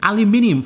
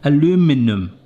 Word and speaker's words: aluminium: Aluminium foil, or is it in America? It's spelled the same, obviously. Aluminum. You used to have arguments on the summer camp in America about that. Aluminium. Are you crazy? Speak English, Barry.